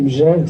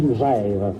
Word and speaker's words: Megève: Moi, je dis Megève sans dire me ni mais. On dit Megève. On ne dit pas mais ni mais, mais on dit Megève, tout simplement. Oh, il faut prononcer Megève, puisqu'on ne dit pas